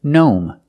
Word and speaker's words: gnome: the pronunciation of GN when we see GN at the beginning of a word the g is silent just pronounce the n like a normal n example gnome this is a gnome